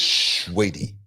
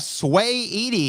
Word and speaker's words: Saweetie: Yeah, you gotta say it like this, sweetie. I like the commentators. You know, they didn't know who she was. They were like, "We have Sway Edie here tonight."